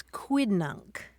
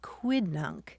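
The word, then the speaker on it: quidnunc: It's quiddnunk. Qu UI d nu n c. Quiddunk.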